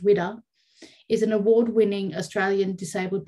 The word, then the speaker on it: WWDA: Officially established in 1995, Women with Disabilities Australia, pronounced WIDA, is an award-winning Australian Disabled Persons Organisation, or